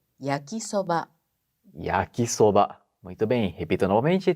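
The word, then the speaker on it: 焼きそば: E yakisoba, Mitsuko Sensei. É yakisoba.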